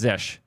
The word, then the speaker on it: zsh: It's Zish.